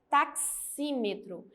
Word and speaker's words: taxímetro: porque olha a taxímetro Olha eu pronuncio como se fosse o x e o s taxímetro Então ela também não